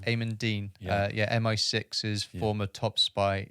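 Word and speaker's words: Aimen Dean: Am I pronouncing it right? Eamon Dean. Eamon Dean.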